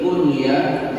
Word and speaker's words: kunyah: Nah, Aisyah berarti diberi kunyah dengan Ummul Mukminin dan Ummu Abdillah. Apa itu K? Iya. Kalau disambung itu bacanya kunya.